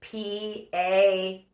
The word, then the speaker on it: Parinyon: So you can find me at Parinyon, spelled semi-phonetically, not like a certain brand, and it's Parinyon.